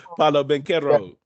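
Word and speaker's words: Paolo Banchero: Bernero, Palalo, can't pronounce his name. Paulo Banchero.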